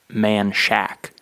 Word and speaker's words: Menchaca: there's a road that's spelled m-e-n-a-c-h-a-c-a and it's pronounced man Shack right so if you